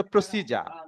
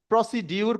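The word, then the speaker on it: procedure: এটার একমাত্র উচ্চারণ প্রসিজার। এটা প্রসিডিউর কোনো উচ্চারণ না।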